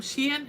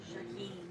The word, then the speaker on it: Shaheen: Adam Shien. Is that how you pronounce it? Shaheen. Shaheen.